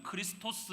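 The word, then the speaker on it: Χριστός: 근데 여기서 흥미로운 것이 그리스도 라는 헬러 단어는 에 팔러 단어는 크리스 토스 라고 발음을 합니다 크리스 there's 라고 발음을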